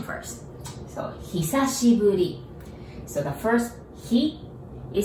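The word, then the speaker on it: 久しぶり: the pronunciation first so hisashiburi so the first he it says hi but we pronounce he as in he's the man the he and sashi as in sashimi's sashi do you know what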